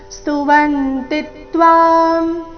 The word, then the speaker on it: ಸ್ತುವಂತಿ: ಸ್ವಸ್ತಿತ್ಯುಕ್ತ್ವ ಮಹರ್ಷಿ ಸಿದ್ಧ ಸಂಘ ಸ್ತುವಂತಿತ್ವ ಸ್ತುವಂತಿತ್ವ ಸ್ತುವಂತಿ ಶಬ್ದದಲ್ಲಿ ಮೂರು ಅಕ್ಷರಗಳು ರಸ್ವ ವ ಮತ್ತೆ ತಿ ಮೇಲೆ ಆಘಾತ ಸ್ತುವಂತಿತ್ವಸ್ತುತಿ ಸ್ತುತಿಭಿಫ ಅಲ್ಪಪ್ರಾಣ ನಂತರ